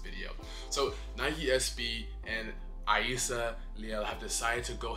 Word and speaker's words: Rayssa: So Rayssa Leal, and how you pronounce her name, Rayssa. I've been seeing so many people call her Rayssa. It's Rayssa.